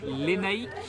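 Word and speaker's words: Lénaïc: Lénaïque. Voilà, ça s'écrit comme ça.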